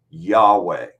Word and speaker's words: Yahweh: the Christian Church testified that the name was pronounced Yahweh okay so let's settle that for right now